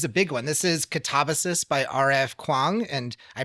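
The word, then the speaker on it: Katabasis: This is Catabasis by R.F. Kuang, and I pronounced the name of the book right.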